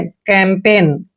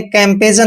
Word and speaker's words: campaign: और जी का उच्चारण हमने नहीं करना है, एन को न पढ़ना है। कैंपेन। क्या पढ़ेंगे इसको? कैंपेन। आपने कैंपेजन नहीं पढ़ना है, कैंपेन पढ़ना है।